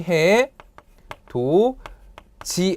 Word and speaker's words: 해돋이: 자, 실제 발음하면 어떻게 됩니까, 여러분들? 여기 있던 디귿이 여기 있던 이를 만나서 최종적으로는 발음이 해, 도, 지 하고 이렇게 지읒으로 변하게 됩니다.